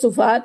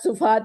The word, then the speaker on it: صفحات: اس میں سما جائیں۔ اب میرے صفحات کہنے سے یہ مت سمجھ لیجئے گا کہ میں غلط ادائیگی کر رہی ہوں، عموماً میں بھی صفحات کہہ کر بری ذمہ ہو جاتی ہوں، لیکن صحیح تلفظ صفحات ہے، اور کیونکہ اس وقت میں ایک ماہر لسانیات شاعر کا تعارف کروانے کا فریضہ انجام دے رہی ہوں، اس لیے ارادتاً اور خصوصاً درست تلفظ کے ساتھ صفحات کی ادائیگی کی ہے۔ آپ ان سے بہت